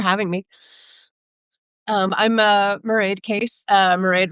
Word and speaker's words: Mairead: Mairead rhymes with parade, and I live in Denver, where I'm a teacher and a writer.